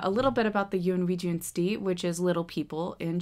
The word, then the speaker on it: Yunwi Tsunsdi: and that's u n we j n d Yun Jun Yun Jun okay so now that that's out of the